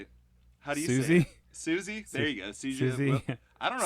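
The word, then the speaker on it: Siouxsie: That you use Sushi and the Banshees. Did you say sushi? What do you say? How do you Susie? say it? Susie? There you go. Susie.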